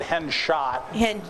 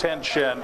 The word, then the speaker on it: Henshaw: pronounced it hen shot. Well, It's hen shin, but that's okay.